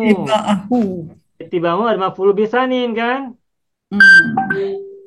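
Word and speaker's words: اتباعه: Nah, Bapak Ibu, cara baca ittiba'a ini alifnya dibaca kasroh kalau kita baca terputus.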